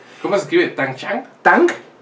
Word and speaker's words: Tang: Tang, ajá, como el jugo, ajá, de Shang.